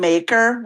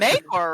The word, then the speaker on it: Maekar: George just puts an AE in every Targaryen name. And it could be any vowel.